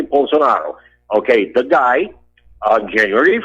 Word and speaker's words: Bolsonaro: Brazil okay bolsonaro okay his name is j bolsonaro the the correct pronunciation J bonaro okay the guy on